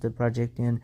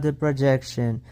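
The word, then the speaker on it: The Projecttian: It is pronounced the Projectian. It is not the projection.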